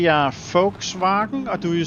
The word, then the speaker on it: Volkswagen: English, do you say Volkswagen or do you say say Volkswagen or Volkswagen, maybe? Because the the Germans pronounce their V's as F. That's why I say Volkswagen because that first part